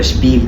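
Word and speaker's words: Spiel: اللي معانا بعد كده مقطع الاسي الاس بيتنطق في اللغه الالمانيه شبا شبا ثم شبيل شبيل شبيل يعني اللعب اودا شبيجل شبيجل يعني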